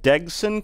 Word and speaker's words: Degson: These are called Degson connectors. It's spelled D-E-G-S-O-N.